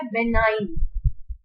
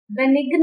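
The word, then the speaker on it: benign: हमारे पास पहला वर्ड क्या है, बेनाइन। बेनिग्न नहीं बोलना इसको, ठीक है, ये जी क्या है साइलेंट।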